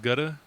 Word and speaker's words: Gutta Mac: It's pronounced Gutta. Gutta, yeah. I pronounce that shit Gouda.